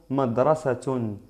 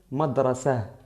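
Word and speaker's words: مدرسة: Es decir, en la omisión no se pronuncia. Aquí digo beit, beit. Aquí madrasa, madrasa. Y no madrasat, madrasat. Porque madrasat es incorrecto.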